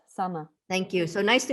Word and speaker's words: Sanne: My name sounds like Anna with an S, Sanna.